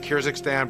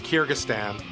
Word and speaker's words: Kyrgyzstan: Big debate by the way over the pronunciation Kyakhstan but I've since learned that it's pronounced Kyrgystan and that's in Russia. Yeah. We got to Kyrgystan.